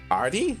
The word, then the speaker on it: ArT: it's actually i mean it is a capital a and a capital t like rt arty oh maybe maybe we